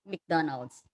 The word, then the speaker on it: McDonald's: We also have McDonald's. Pag pronounce daw, Mick siya, McDonald's.